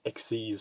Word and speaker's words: Xyz: you can see that it says xyz but it's pronounced exes for some reason and these are summoned